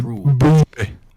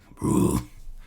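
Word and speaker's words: Brühl: It has the U with like the 2 dots. It's like Uber. It's Bruhl. Bruhl.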